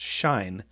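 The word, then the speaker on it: sinh: of the angle and hyperbolic sign pronounced shine is the y-coordinate then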